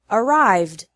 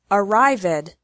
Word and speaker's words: arrived: So the past tense of the verb arrive, which has 2 syllables, is arrived, which also has 2 syllables. Don't say arrived. It's incorrect.